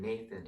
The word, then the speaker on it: Nathan: us like my name nathan n-a-t-h-a-n that little th might not make the that sound um in every country so that's why nate